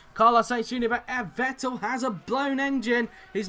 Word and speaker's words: Vettel: 14th place for the moment here is sebastian vettel making his way into the right left right chicane so through the the bus stop chicane there then goes sebastian vettel as they called him on itv back in